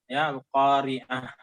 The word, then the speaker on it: القارعة: Di antaranya perhatikan selalu dalam pengucapan huruf H setiap akhir kata pada surah Al-Qari'ah ini. Tolong diucapkan haknya Al-Qari'ah. Al-Qari'ah sebab ada di sana yang tidak mengucapkan haknya.